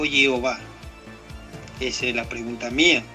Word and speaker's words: Jehová: Bueno, yo no defiendo la forma Yahweh, pero si en todo caso me preguntas, el tetragrama se pronuncia Jehová.